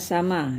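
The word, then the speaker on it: س: Nah, sin baris di atas atau fathah bacaannya sa. Hm. Sa ya. Kemudian syin syin kalau berbaris atas sya sya sya sya.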